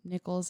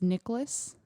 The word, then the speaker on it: Nickles: spell their last name nichols as in the coin and when people read my last name they usually pronounce it as nicholas like saint nicholas ah